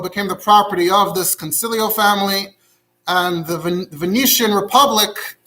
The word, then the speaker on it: Consiglio: Then in 1425, there's a Jew named, it's spelled Consiglio, but it's apparently pronounced Concilio.